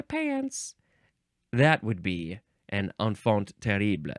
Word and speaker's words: enfant terrible: The next word is enfant terrible. Yeah, I think that's how you say it. Enfant terrible. Now, this is two words. The first word, it's enfant. It looks like infant with an E.